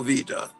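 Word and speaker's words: Weider: really it's we v w in German is pronounced v v Jo Vita it's a Charles Atlas style ad but it's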